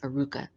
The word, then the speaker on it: Arukah: your website is pronounced Aruka.